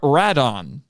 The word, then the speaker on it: Rodan: let me tell you in japan they call him radon which is a